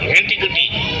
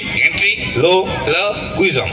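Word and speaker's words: ventriloquism: কুইজম কি ভেন্ট্রি কুইজম ভেন্টিকুটি ভালো করে উচ্চারণ করো ভেন্ট্রি ভেন্ট্রি লো কুইজম কুইজম ভেন্ট্রিলো কুইজাম ভেন্টিকুটি ইংলিশে বলে ভেন্ট্রি কুইজম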